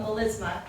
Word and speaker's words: melisma: If you're singing multiple notes on one syllable, that's what we call a melisma, M-E-L-I-S-M-A.